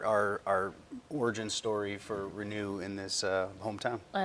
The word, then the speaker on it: Renu: Renew is spelled re neu like uh renewal of the mind.